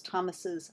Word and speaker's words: Thomas's: to the word Thomas we pronounce the possessive as if it had two s's at the end it's Thomas's opinions however we do